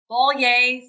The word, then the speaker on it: Bollier: and our webpage is bolier for kansas and it's b o l l i e r uh pronounced like a bowl of soup and say yay which is exciting so